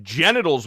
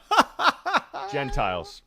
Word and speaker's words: Gentiles: I mispronounced genitals once when I was reading the Bible. Oh, and so did Beardo. Gentiles.